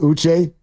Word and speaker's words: Uche: It's pronounced Uche.